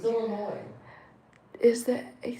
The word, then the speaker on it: Illinois: is silent. Mom. Illinois. It's Illinois. It's Illinois.